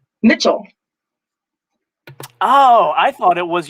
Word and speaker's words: Mitchell: of behind the curve what is the correct pronunciation of your last name mitchell oh i thought it was your instagram handle